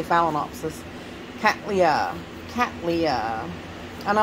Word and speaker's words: phalaenopsis: book is that way phallianopsis is how you say it I don't say it that way phallianopsis phalaenopsis I say phalaenopsis catlia Cattleya and I